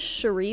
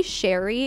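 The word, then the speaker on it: Sheree: for This Woman's death her name was Cherie by the way it might be Sherry it's spelled s-h-e-r-e-e so I'm saying Cherie anyway I think there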